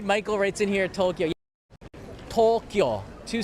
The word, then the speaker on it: Tokyo: think that that's funny it's only two syllables Tokyo is Tokyo not Tokyo just anyone who tries